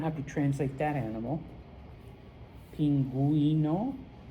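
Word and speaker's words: pingüino: If the U has two little dots above it, then you do pronounce it. Okay. And so I hope I don't have to translate that animal. Pinguino.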